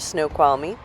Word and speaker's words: Snoqualmie: Then we went into the town of Snoqualmie and saw the train station.